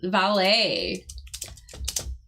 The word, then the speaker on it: valet: Valet is a French word. Yeah, it's like a yeah. Yeah, oh yeah, so that's a good point too. I was going to point out the pronunciation. Valet. Because it is like French origins, yes.